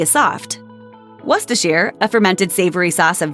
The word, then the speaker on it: Worcestershire: The name only has 3 syllables. In the UK, the sauce is also commonly referred to as Worcester sauce, so you could even shorten it down to 2 syllables. Worcestershire? Now that sounds fancy. It's Worcestershire. Paczki are Polish-filled donuts made